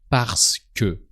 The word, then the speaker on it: parce que: Parce que. So you write it parce que, but in spoken French, you skip the middle E.